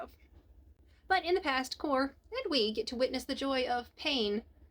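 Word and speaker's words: Xcor: Though I don't know how you would pronounce it with the X. I mean, Score would work. But I know it's Core.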